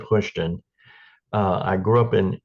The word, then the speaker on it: Houston: thank you Brian uh I live in what I call Houston Georgia they pronounced at hushon uh I grew up